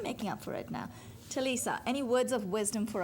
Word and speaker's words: Ti'Lesa: Talisa Michela. Talisa, did I finally get it right again?